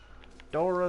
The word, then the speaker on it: Dora: Dora the Explorer. The US is silent. You just say UH as if that S was an H, so it's Dora.